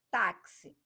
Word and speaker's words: táxi: Táxi é a penúltima, então aqui ela é paroxítona.